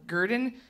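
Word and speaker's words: Gardn: in Brooklyn but uh they spell it gr d n so Gurdon and you know for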